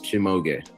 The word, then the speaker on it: Chimoge: It is 3 syllables, Chimoge. Shimoge.